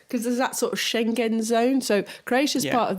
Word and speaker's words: Schengen: you know so in calling it shenzhen zone it is Schengen zone in China so I